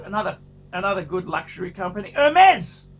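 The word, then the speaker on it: Hermès: another good luxury company hermes hermes with the pronounced mezz with the silent h with the magnificent birken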